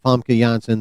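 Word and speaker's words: Famke Janssen: Also from missing from the Fox X-Men are Halle Berry Storm and FA Jansen. That is how you correctly pronounce her name by the way chat.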